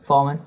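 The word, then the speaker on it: Fahlman: How do you pronounce that? Fallman?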